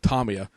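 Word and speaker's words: Tamiya: from this event that it's Tommy ax because without the big tummy attached to it because it is a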